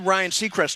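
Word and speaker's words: Ryan Seacrest: The last clue should be his name rhymes with cyan request.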